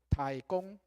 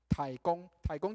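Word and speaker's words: 舵公: 知道那个掌舵的人在台语怎么念，知道吗？好，台语叫做台公，台公就是舵手，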